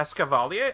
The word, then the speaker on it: Escavalier: lines are in this game even are they escavalier I don't know actually that that is how you pronounce it by the way because it's it's